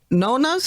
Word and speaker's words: nonna: kid dunker okay italian so say you're at your nonna's house is that how you say it yeah my grandparents were nono and nona oh okay see there